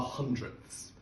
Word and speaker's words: hundredths: Then to the place to the right of the tenths, we have our hundredths. Notice the th sound at the end.